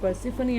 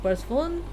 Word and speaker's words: Persephone: I hope I pronounced this right because I've always said it Aphrodite, but recently I've came to know that Persephone is pronounced Persephone and not Persephone because I used to do that.